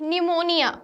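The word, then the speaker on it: pneumonia: Next, निमोनिया, तो निमोनिया में हमारा पी हमारा साइलेंट लेटर है।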